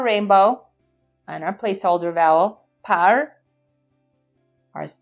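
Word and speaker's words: פרעה: Our silent letter ayin with an o vowel. And a hey at the end. Makes a sound of an H, house with a hole. Par-o. Par-o. Par-o is the Hebrew way of saying Pharaoh.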